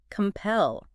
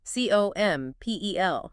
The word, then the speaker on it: compel: Compel. C-O-M-P-E-L. Compel. 2 syllables. Stress on the second.